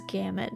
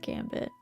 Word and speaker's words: gamut: pronounced it is correct but it is gamut not Gambit oh okay I think it's a regionalism too it's not Gambit but how the A